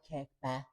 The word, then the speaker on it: Kirkby: Yeah, like Kirby was always known as Kirby. It was just pronounced slightly different. Oh, yeah, like Kirkby. Kirby. Something like that, yeah.